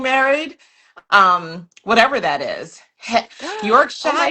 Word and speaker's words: Yorkshire: Yorkshire. Is that the right way to say it? I feel like it is cuz I I did watch The Crown. Um, I feel like it's Yorkshire.